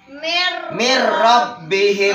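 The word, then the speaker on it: مِن رَّبِّهِم: Artinya nun sukun bertemu dengan ro. Dibacanya dimasukkan jadinya mir rabbihim.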